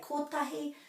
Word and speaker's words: kotahi: So the E at the end of the word is always pronounced kore, kore. For 1, some people say tahi and some people say kotahi.